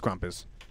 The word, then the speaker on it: Krampus: Is it Krampus or Krampus? It's Krampus. I don't know about that one.